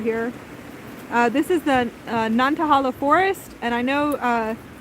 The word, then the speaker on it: Nantahala: uh this is the nantahala forest and i know uh the locals here pronounce it differently but the natives here communicating to spirit and the great spirit out here she calls it non-kahala forest so i'm going